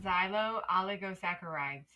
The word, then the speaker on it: xylo-oligosaccharides: Learn how to pronounce. Is it going to be crazy loud? No, I don't hear anything. Xylo-oligosaccharides.